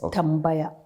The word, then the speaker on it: Tambaya: And it's the story of, tell me if I'm pronouncing the name correctly, is it Tambaya? Yes, you're correct. It's Tambaya.